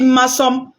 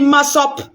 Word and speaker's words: Massop: Massom, ce n'est pas mon nom. Donc, si tu es une guerrière robuste, il faut dire Massop. Mon nom, c'est Massop.